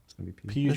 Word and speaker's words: Pugh: How do you say her last name? I'm gonna say Pugh. I'm almost positive it's Pugh. How do you Like spell Pepe it?